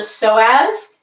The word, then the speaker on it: psoas: It's called a psoas, and it's spelled with a P.